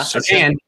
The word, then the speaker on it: Surtain: Horn, or Emmanuel Mosley and your boy Patrick Surtain, is that how you say it? Yeah, Surtain. I said it right this time.